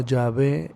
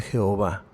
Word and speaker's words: Yahvé: Entonces, en las palab en la palabra de de Yahvé, el tetragrama Yhwh, pues la pronunciación correcta es como Yahvé en lugar de Jehová, que los judíos no